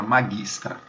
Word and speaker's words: magistra: Vamos lá, a palavra magistra, professora. Magistra. tra. A primeira sílaba, ma.